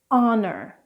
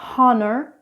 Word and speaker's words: honor: Next up is the silent H. I live in France and I have a lot of French students who pronounce this H. So this is for you guys. Honor, hour, honest.